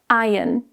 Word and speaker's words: iron: iron In the UK, we usually say iron. So, the ah is silent. In the US, it's pronounced more as iron.